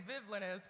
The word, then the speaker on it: Vivllainous: So, yeah, it's villainous with an extra V. It's Vivlinous. People always ask me how to pronounce it. I'm like, it's the word villainous but with a V.